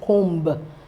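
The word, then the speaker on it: comb: the the sound B there are certain words that you see the letter B that is not sounded all right like the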